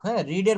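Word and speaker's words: read: have রেড এ বুক রিডের বানানটা একই কিন্তু উচ্চারণ হবে রেড কিন্তু আই হ রেড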